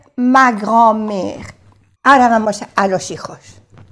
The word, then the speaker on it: grand-mère: Igual no se pronuncia la D y con el guión, trait d'union, que se dice en francés. La grand-mère.